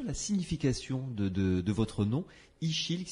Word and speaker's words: Ixil: Ichil, bonsoir.